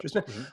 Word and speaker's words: Dyrsmid: I'm going to get his name wrong, Trent Dyrsmid. Is that how you pronounce it? Dyrsmid, yeah. Dyrsmid, on the podcast, and he's got some great